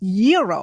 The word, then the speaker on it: gyro: Gyros I order the gyro Supreme suddenly the lady behind me chimes in it's pronounced Euro then the fella behind her says it's a gyro I turn my back